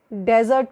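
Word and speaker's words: desert: और रेगिस्तान वाले डेजर्ट को डेजर्ट बोलेंगे।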